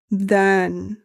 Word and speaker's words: د: This is dal. The tip of the tongue touches the roots of the upper front teeth. Of dal English comparison like D in door.